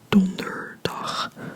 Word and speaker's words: donderdag: of the word, so donderdag, and again, this is just day, so dag, short sound, donderdag, syllable by syllable, donderdag, donderdag, donderdag.